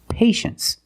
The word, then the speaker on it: patience: we pronounce it well you see t i e in the second syllable you know the t is pronounced sh so this word is patience that's right patience is